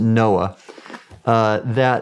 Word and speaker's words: NOAA: And so for example, when I was with the National Oceanic and Atmospheric Administration, we pronounced it NOAA, we had a program called the Ocean Exploration